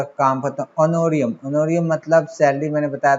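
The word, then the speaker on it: honorarium: ठीक है, तो हम लिख लेंगे 1 लाख पूरा, टू ऑनोरियम कितना है, 1 लाख है। इसमें इस बात का ध्यान रखना एच साइलेंट होता है, ठीक है, ओ से बोलते हैं।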